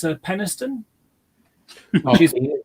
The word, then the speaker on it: Peniston: It's Peniston, Oh, which is yeah. penis tone.